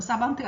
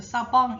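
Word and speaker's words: savant: 불어에서 사번트라는 단어, 불어식 발음은 사번트가 아니겠죠, 그죠? 사방 이래 되겠죠, 그죠?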